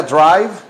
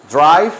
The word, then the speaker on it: drive: Drive Drive se acuerdan Cómo se pronuncia Drive Drive manejar se pronuncia así trae con f al final la f bien marcada la f bien pronunciada es manejar Drive ok